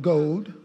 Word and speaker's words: goad: I can use this ox goad gold It's pronounced ox gold.